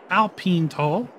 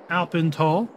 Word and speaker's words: AlpenTal: below with respect to Alpine tall or alpen tall however you want to pronounce it and until next time